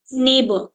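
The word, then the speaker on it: neighbour: दूंगी तो यहां पर नेबर की स्पेलिंग में नाइन लेटर्स है बट साउंड सिर्फ फोर है फोर साउंड्स आर देयर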